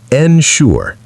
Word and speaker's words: ensure: Ensure is pronounced ensure. The stress is on the second syllable.